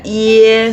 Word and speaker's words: ie: Bacanya iye. Secara cepat. bunyinya tuh mirip seperti iye iye. Seperti ee eh kalau misalkan orang Jakarta ya, orang Jakarta kan bilang iye iye yeye seperti itu.